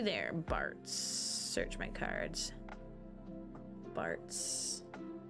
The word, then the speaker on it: Bartz: Bartz. Rhymes with farts.